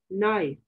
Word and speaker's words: knife: principle what is this knife k n i f e nine l k is silent okay k is silent